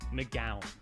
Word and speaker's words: McGowan: McGowan. Really? Like a gal.